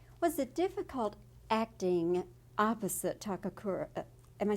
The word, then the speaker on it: Ken Takakura: Was it difficult acting opposite Takakura? Am I saying it right? Yeah, Ken Takakura.